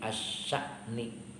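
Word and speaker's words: الشأن: Ai asya'ni, bacanya asya'ni.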